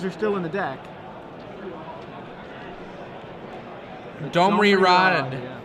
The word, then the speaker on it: Domri Rade: Domri Rod. Yeah. Or if you prefer the incorrect pronunciation according to Wizards of the Coast, it is not correct to say Domri Rade.